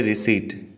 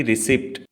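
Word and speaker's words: receipt: कहते हैं रिसिप्ट है तो क्या साइलेंट देखा आपने पी की साउंड नहीं बोली जाती हम कहते रिसेट ना की रिसिप्ट ओंस अगेन रिसीवड एग्जांपल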